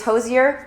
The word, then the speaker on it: Hozier: It's Hozier, like cozier, so I got it there. We're pronouncing it Hozier the right way, and we're doing the Take Me to Church pop-up in NYC subway performance.